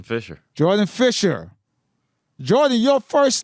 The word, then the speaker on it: Jourdain: is the white way it's French you should recognize it you're Haitian for real yeah how you say it was French yeah yeah we're not saying it no way you don't say it like that yeah no not at all I don't have an